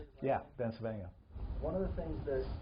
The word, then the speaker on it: Bencivenga: Yeah, Bencivenga.